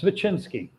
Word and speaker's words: Svechinsky: let you deliver the the spelling of your pronunciation your last name if you would yes vicinski so that chinsky it's one of those uh